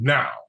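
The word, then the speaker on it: NAO: And the robot is called Now. And it is spelled N-A-O.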